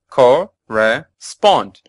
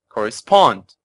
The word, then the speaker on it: correspond: listeners have already heard correspond has three syllables with the stress on the third and final syllable correspond correspond correspond and the meaning of